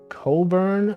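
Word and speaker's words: Cockburn: names presumably it's crazy Coke Coburn I would not have known they were pronounced like that how could they even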